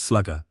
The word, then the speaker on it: SLGR: The army purchased several hundred units designated small lightweight GPS receiver, or SLGR, pronounced slugger, which weighed 4 lb and could store up to nine way points.